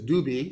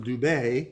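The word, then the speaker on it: Dubhe: And then the second one over from the right, that star's name is Dubi, or sometimes pronounced Dubay. It's Arabic, and I'm not a pro at Arabic. Dubi or Dubay.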